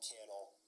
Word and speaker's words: Cannell: to tag me at Sean Cannell, rhymes with YouTube channel. It's kind of cheesy, I know, but it's a good way to remember the pronunciation.